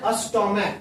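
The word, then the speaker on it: stomach: इसको पढ़ते हैं अस्टोमैक। क्या पढ़ते हैं, अस्टोमैक, ठीक है, अस्टोमैक पढ़ते हैं। तो ये लास्ट वाला CH का उच्चारण क्या निकल के आया, क।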